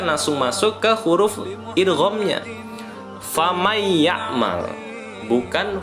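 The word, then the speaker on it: فمن يعمل: Contoh, famay ya'mal mithqala dzarratin khairan yarah. Nabi ulangi, famay ya'mal. Jadi bukan faman ya'mal, tetapi nun matinya tidak lagi dibaca, melainkan langsung masuk ke huruf idghamnya. Famay ya'mal, bukan faman ya'mal.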